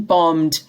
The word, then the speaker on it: bombed: which was constantly being bombed the second b here is not pronounced and that bombing became